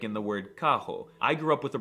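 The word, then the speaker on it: carro: break Hog Wild the r is very often pronounced as an H like in the word Kaho I grew up with a Brazilian named Lohan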